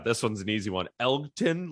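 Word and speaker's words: Elgton: one's an easy one Elkton like Elton with the G uh Jenkins is also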